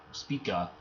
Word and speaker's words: Spica: arc down till you spike it down to Spica speaka in the constellation Virgo okay only way I